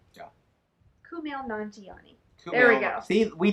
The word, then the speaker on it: Kumail Nanjiani: He says it's pronounced exactly how it's spelled. So Kumail Nanjiani. Kumail Nanjiani. Yeah. Kumail Nanjiani.